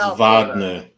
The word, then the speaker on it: Wagner: Wagers against flance and we will Vagner it's Vagner they always say it wrong it's Vagner Vagner 8268 7 minutes left